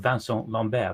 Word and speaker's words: Vincent Lambert: death of a man called Vance on lan bear that's spelled like Vincent Lambert if people want to